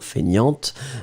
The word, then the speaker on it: feignante: Remember, so masculine you don't pronounce the T, and then feminine form you will pronounce it. So paresseux, paresseuse, and then feignant, feignante, and then Julia is like, I know this one.